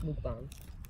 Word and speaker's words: mukbang: It's pronounced mukbang.